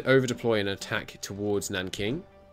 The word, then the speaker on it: Nanking: Okay, and if they're going to over-deploy an attack towards Nanking, I'm pretty sure is how you pronounce what looks like Nanjing. I think it's Nanking.